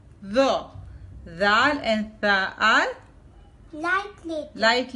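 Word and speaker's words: ذال: when tip of the tongue touch the lower part of Upper Front Teeth then these letter are prouns th zal zal and th are light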